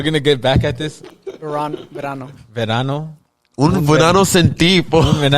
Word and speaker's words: Verano: It was how do you say Vernanos? We're gonna get back at this. Verano.